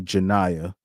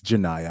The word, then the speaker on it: Janaya: But shout out to Janaya, because that is how you that's how you pronounce her name. It's Janaya.